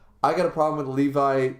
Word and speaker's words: Levi: me guys um yeah Levy I went to the levy and the levy was dry I know it's Levi whatever it's spelled like the levy um but anyways um